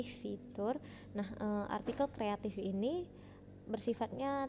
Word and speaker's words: fitur: dari tadi ibu Sebutkan fitur ya bacanya bukan feture tapi fitur nah artikel kreatif ini